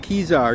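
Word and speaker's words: Kezar: It's pronounced Kizar.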